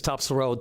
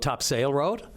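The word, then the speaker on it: Topsail Road: Cuz anyone who pronounces Topsel Road Top Sail Road didn't grow didn't grow up in St. John's.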